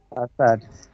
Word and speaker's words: facade: including building, faced trees ফাসাডস, and building grass ফাসাডস, এটা প্রনাউন্সিয়েশনটা ঠিক করেন। of ফাসাড এটা uh, উচ্চারণটা, হ্যাঁ ফাসাডস। facade, trees and grasses land.